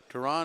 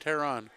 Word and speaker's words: Terran: Tehran and Tehran. Okay, Terran. Getting some corrections on pronunciations.